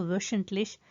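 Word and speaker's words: wöchentlich: अच्छा, मज़े की बात है कि ये जब उमलाउट बन गया ना, इस वजह से हा की आवाज़ चेंज होगी। आपको पता है ना, सिंपल डी वोहे में उसकी आवाज़ ह की है, यहाँ पर उमलाउट की वजह से वो श में चेंज हो जाएगी। तो वशंटलिश, पहले मैंने शायद गलत प्रोनाउंस कर दिया है।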